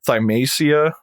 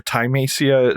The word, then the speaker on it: Thymesia: It's called, probably going to pronounce this wrong, Thymacia or Thymacia.